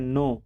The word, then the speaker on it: know: तो सबसे पहले लिखा जाता है सब्जेक्ट, उसके बाद लिखते हैं नो, ना कि कोनो पढ़ेंगे, इसको के साइलेंट करके पढ़ेंगे, इसको पढ़ेंगे नो।